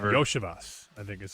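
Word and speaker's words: Iosivas: Yoshas, I think is how Yoshas.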